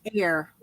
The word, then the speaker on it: AYR: Can't say it's pronounced air.